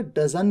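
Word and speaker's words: doesn't: डजन advance English में in fact T को silent भी कर दिया जाता है तो आप इसे डंट की जगह डजन भी कह सकते हैं डजन यह बात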